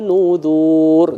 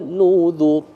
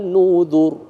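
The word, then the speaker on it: نُذُر: Jangan dibaca adzabi wa nudzur, enggak boleh. Ya, enggak boleh di sana. Ya, enggak boleh. Jadi kita bacanya gimana? Fadzuqu adzabi wa nudzur. Ya, wa nudzur. Satu ketukan semua itu.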